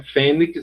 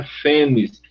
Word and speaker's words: fênix: é um pronúncia brasileira essa pronúncia Fênix é uma pronúncia do inglês em português ela se pronuncia afenis assim como Kale uma